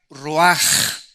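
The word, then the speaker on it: רוח: Esta palabra vientos es la palabra hebrea roach, que se pronuncia roaj. La ch en el hebreo se pronuncia como J.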